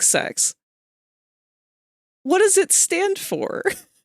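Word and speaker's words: CeX: it's got to be kex they can't have seriously hold on it is pronounced like sex what does it stand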